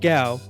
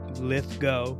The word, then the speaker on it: Lithgow: much of an 80s John Lithgow, not Gow, Lithgow, I know how to pronounce it, I got it right the first time, gets them to tell the truth about their grave dancing experience.